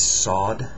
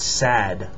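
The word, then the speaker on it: صاد: sod s and um it's basically it's an S but the vowel after it is going to be more like an a sound sod not sad but sod a so it's the it's like a hard remember it is the hard s for now sod is the hard s sound the more deeper s sound this is do it's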